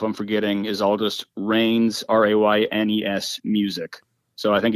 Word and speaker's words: Raynes: Yeah, no, it's Raynes.